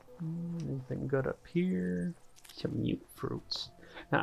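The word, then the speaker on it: Mutfruit: Some mute fruits. Now, I used to think these were pronounced muts, but I guess it's mute fruit.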